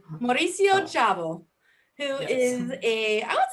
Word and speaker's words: Szabo: your last name well in brazil they pronounce zabo but i believe it's chabot the right pronunciation mauricio chavo who is a i